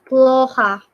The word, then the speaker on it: плохо: Ini bacanya ploha.